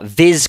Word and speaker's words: vis: it with a a zed or z sound depending on whether you're from Britain or America um and so viz